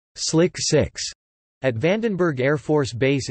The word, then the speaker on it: SLC-6: When the disaster happened, the Air Force had performed extensive modifications of its Space Launch Complex 6 (SLC-6), pronounced as Slick 6.